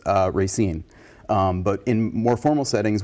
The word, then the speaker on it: Racine: Yeah, the one historian who I talked to, who does say Racine, said that kind of when he's being himself, he's kind of a salt of the earth Polish guy. He says Racine.